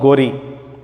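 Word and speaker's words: Ghori: So later, Muhammad Ghazni, Muhammad Gori, or Muhammad Gor, we can also pronounce like this, and the Delhi Sultans, and later the Mughal rulers, they started ruling our country.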